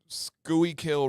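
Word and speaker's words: Schuylkill: I'll give you okay I'm going to go scoy kill River skg okay that's Google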